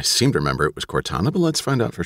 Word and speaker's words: Cortana: Cortana and again I'm gonna guess at the pronunciation I seem to remember it was Cortana but let's find out for sure yeah I